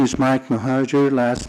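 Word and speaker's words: Mohajer: have one other card and that's from Mike moer good morning Mr chair and member of the commissions my name is Mike mahajer last name is spelled m o h a j I have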